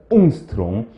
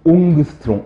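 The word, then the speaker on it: Ångström: 옹스트롱. 옛날 교수님들은 옹그스트롱, 옹그스트롱 이렇게 발음을 하셨었죠. 컨닝을 컨닝고, 런닝을 난닝고 이렇게 발음하는 것처럼 옹그스트롱, 옹그스트롱 이렇게 했는데, 1 나노미터는 10 옹스트롱이에요.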